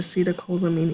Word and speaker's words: acetylcholine: The hormones also help increase the acetylcholine effect, and that's just a fancy way. Actually, if you look at this word here, kind of the I-N-E kind of rhymes with epinephrine, norepinephrine, and this is where your